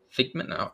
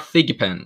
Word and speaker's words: Thigpen: with scott escott pikmin figment oh sorry i already mispronounced it i'm sorry it's all right you're good scott thigpen um yeah and he's